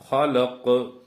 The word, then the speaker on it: خلق: ഖലഖ് ഒന്നുകൂടി പറയാം. ഖലഖ് ഖു. നമ്മൾ കാറുമ്പോഴൊക്കെ ഒരു ശബ്ദം വരില്ലേ, ഖ എന്നൊക്കെ, ആ ഉച്ചാരണ വരേണ്ടത് കേട്ടോ.